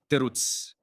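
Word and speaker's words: תירוץ: Terutz. Terutz. Here's how it is, guys. Terutz. I didn't put it here to read now. I do that at night. It's pronounced just like that.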